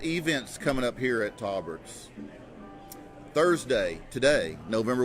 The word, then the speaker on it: Tolberts: Well, Tolberts is actually the correct pronunciation of the family name.